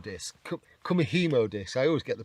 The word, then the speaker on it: kumihimo: going to do it on one of these kumihumo discs kumihimo this I always get the pronunciation wrong on that one you might have